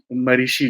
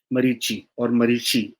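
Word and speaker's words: मरीचि: और ब्रह्मा जी के brain child थे मरीषि जी, मरीची और महर्षि। बहुत तीन तीन उनके अलग अलग प्रोनाउंसिएशन है।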